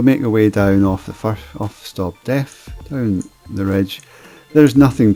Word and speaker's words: Stob Daimh: And then you'll come to the summit of Stob Daimh. I know it doesn't look like it would sound like that, but that's how you pronounce it, Stob Daimh.